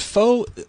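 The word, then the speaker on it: phở: do you guys thinko all day is is faux like what is faux food is that it's it's pronounced fa actually with the weird yeah it's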